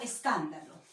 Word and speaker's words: escándalo: Escándalo, ¿verdad? Está tildada, pero quiero identificar las sílabas átonas, las más suaves. Acá son, en las sílabas átonas son varias en una palabra. Por ejemplo, está es, da y lo. Son las sílabas átonas, son las sílabas